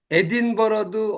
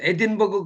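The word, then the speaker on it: Edinburgh: 그래서 예를 들어서 에딘버러도 어떤 사람들은 에딘버그 그래야 되는데 우리는 에딘버그가 뭔지 몰랐더니 나중에 알고 보니까 에딘버러라 그래요. 에딘버그라고 독일 사람들이 오면 그렇게 발음합니다.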